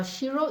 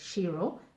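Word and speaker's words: Ciro: akikuyu alphabet but yet this c is pronounced as sh and so my name in its short form is pronounced as shiro but yet spelt as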